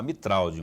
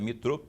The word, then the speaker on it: Mitraud: é o Thiago metrô na verdade eu se eu fosse ler conforme escrito aqui conforme escrito ia falar mitralde mas a pronúncia é metrô ainda bem que eu